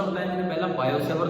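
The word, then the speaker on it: Biot-Savart: बायो-सेवर्ट लॉ, T silent होता है, बायट लिखा जाता है, बायो-सेवर्ट लॉ।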